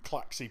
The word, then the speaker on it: Klaxxi: But this Paragon wants to reveal a traitor in our midst, and it's Klaxxi, which is its true Klaxxi pronunciation, I'll have you know.